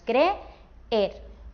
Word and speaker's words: creer: En la palabra creer tenemos dos Es, o sea, dos vocales fuertes. Como son dos vocales fuertes, forman un hiato, así que se tienen que decir, que pronunciar en dos sílabas diferentes. Diríamos creer. Así que estas dos vocales se separarían y sería una palabra de dos sílabas, porque es un hiato.